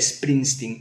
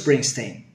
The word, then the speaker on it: Springsteen: No hay dos Bruces, Bruce Springsteen, no. Bruce Springsteen. Solo hay uno y se llama Bruce Springsteen. Eso se llama S líquida, esa forma de pronunciar la S en inglés, porque en inglés cuando algo empieza por S, no empieza por S, empieza por S. Made in Spain, no.